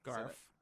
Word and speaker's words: Garff: on the front page here mark Garf mm-hmm Garf Garf Garf good i said it correct it's